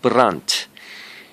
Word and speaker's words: Brandt: there's some similarities johanna but runt so i think the the D is silent battery it's just in